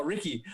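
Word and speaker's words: Rikki: are you writing dude no ricky r-i-k-k-i it's short for ricketts and one of the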